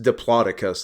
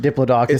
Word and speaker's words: Diplodocus: shout out to Cody I've also heard it pronounced dioicus and I don't know if I like I think it's both guess I dioicus sounds very British to me it does and Diplodocus sounds Americanized garage schedule yeah Ru privacy